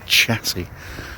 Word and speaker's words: chassis: I'm sorry, I feel sick just saying the word, pronouncing it chassis. I'm sorry, it's chassis, not chassis. Chassis, like chasseur or charcuterie.